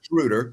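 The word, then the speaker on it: Schröder: His name is Shruder. So, let's pronounce his name correctly.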